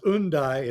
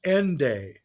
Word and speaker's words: Hendaye: uh, I like to say Hendaye because I think it was because if you know your British form of pronunciation, you drop the H at the beginning of the word.